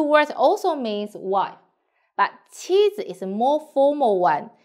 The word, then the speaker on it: 妻子: So pay attention here, the 子 should be read short and light. 妻子.